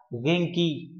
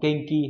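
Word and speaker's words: 元気: Phải đọc là Genki, đó đúng là ni bằng số 2. Không phải là Kenki hay là Denki, Denki là điện, Kenki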